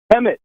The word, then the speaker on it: Hemet: Hemet.